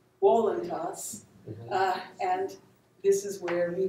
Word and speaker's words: voluntas: And if we were pronouncing our Latin in the classical way, we would say voluntas.